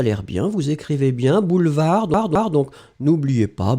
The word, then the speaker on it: boulevard: bien vous écrivez bien boulevard donc n'oubliez pas B O U l e V a r d un boulevard le D final n'est pas prononcé et puis finalement côté